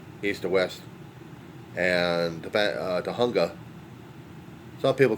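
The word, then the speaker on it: Tujunga: It's comes to Riverside Drive which is east to west and uh Tahunga. Some people call it Tjunga but it is Tahunga. That's how it is pronounced.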